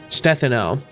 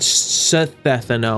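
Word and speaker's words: Stefano: It's It's Sino with a soft th by the way. Stethano, not Sethano or however I was pronouncing it.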